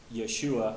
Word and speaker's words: Yeshua: conclusion that the um what would be the best pronunciation for me that I felt best with was Yahweh for the Tet Graton and Yeshua for the son now in the Old